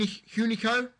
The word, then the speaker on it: Hunico: Number 16, Hun Hunico.